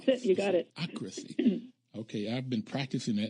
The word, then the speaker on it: sociocracy: And I also need you to pronounce Sociocracy. Sociocracy. Sociocracy. Okay. That's it. You got it. Sociocracy.